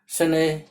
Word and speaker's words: शनैः: तो हम अभी देख रहे हैं कि बोलते समय विसर्ग जो है ह का उच्चारण निकल रहा है, प्रातः, शनैः। तो ऐसा लगता है कि बोलते समय हम प्रातः के अंत में ह और शनैः के भी अंत में ह का उच्चारण कर रहे हैं।